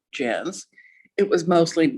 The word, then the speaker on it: Janc: j-a-n-c so although it was supposed to be pronounced jazz it was mostly mispronounced jank after he died and went to what i